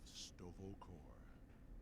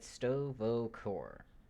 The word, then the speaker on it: Sto'Vo'Kor: say it correctly also the way he said stovakov all right look like he said stovokor instead of stovacore which is interesting ok you are a